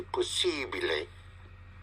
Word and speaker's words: possibile: In the Italian would be possibile. Possibile. Possibile. Because the letter I is always pronounced E.